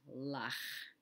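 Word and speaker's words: לָךְ: The figure next to it is lach. Lach. The lamed has the ah sound, and then the kaf sofit has the shva.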